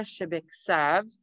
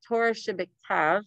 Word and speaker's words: shebiktav: an oral law, or it's Torah shebiksav, which ketub means to write. So Torah shebiktav, I should say it like that, and Torah sheba peh.